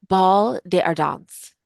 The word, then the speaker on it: Bal des Ardents: they call the wait I literally just listened to this like seven times so I could pronounce it ball de ardons de ardons I wrote